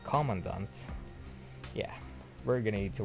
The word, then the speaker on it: Commandant: I kept saying it Commandant. It's when it's actually pronounced as Commandant.